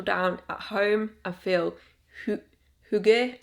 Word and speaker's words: hygge: at home and feel hygge. I think it's hygge or something. It's not higgy, I know that. I'm not sure how to say it, but we're feeling cozy, okay?